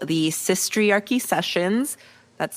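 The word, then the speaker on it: Sistriarchy: r c h y like it's like the patriarchy but like instead of patriarchy it's sis like sister not like cisgender right and um uh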